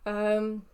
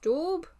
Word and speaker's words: daub: Daub, I believe that's how it's pronounced, daub, because it's spelled D-A-U-B, but I think you pronounce it as D-A-W-B.